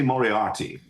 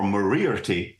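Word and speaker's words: Moriarty: I'm wondering because obviously Mor arti or morti as uh Doyle actually pronounced it that's true um was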